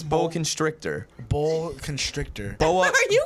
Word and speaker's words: boa constrictor: Boa Constructor I did I always pronounce it Boa Constructor I never know it's Bo constrictor Bo constrictor Bo are